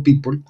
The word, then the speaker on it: Pyypl: Aquí vemos que esta es la sigla P-Y-Y-P-L, se lee así rápidamente como Peeple o se pronuncia como Peeple.